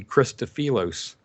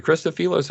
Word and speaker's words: Christofilos: And that heating effect causes something called the Christofilos effect.